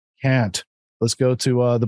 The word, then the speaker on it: Kant: i know emmanuel khan some people pronounce it hunt but that's not what we say here on this show can't let's go to uh